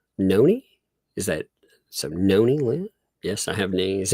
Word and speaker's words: Nani: Noni, Lynn? Yes, I have knees. Okay, so it's Noni. Okay, so I would have said Nani, Noni.